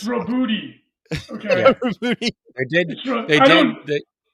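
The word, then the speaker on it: Roboute: I want to say they just did a pronunciation video on the Warhammer community page, and I think they went with Arbides. It's Robuti. Okay. Yeah. Rubuti. They did say that it was Robute.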